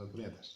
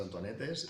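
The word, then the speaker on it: Antonietes: Sí, son Antonietas. Sí. Muy bien, porque hay gente que dice Antonetes y de todo. Antonietas, como Antonieta en castellano, lo Sí, mismo. Lo que sí. pasa es que se escribe con E porque es en catalán.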